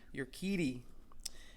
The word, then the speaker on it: Urquidy: Then, how do you pronounce this guy's name? Jose Urquidy. Urquidy.